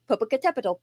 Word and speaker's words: Popocatépetl: It has 7 syllables, which is one reason why it's so hard to say.